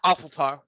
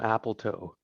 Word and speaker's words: Opatol: It's Opatol. Obatel. I'm gonna call him Apple Toe. No mate, it's It's Opatol.